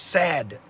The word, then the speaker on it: SAD: I can add because the standard American diet acronym is pronounced sad alright cuz that's exactly